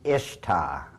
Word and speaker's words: Ishtar: Now, a lot of people think it's pronounced Ishtar, I-S-H-T-A-R.